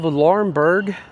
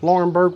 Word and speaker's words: Laurinburg: Okay, and I've made my way into the downtown area of Laurinburg, North Carolina, and this is what it looks like.